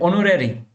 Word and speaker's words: honorary: And honorary, okay? Here also we will be using the vowel, okay? Like and. And air, E is a part of a vowel. So here also H is silent, we will be using A.